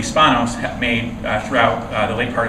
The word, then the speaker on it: Spanos: So like in the late 1990s and early 2000s, the Spanos critique, we called it Spanos at the time, but I think we figured out later that his name is actually pronounced Spanos.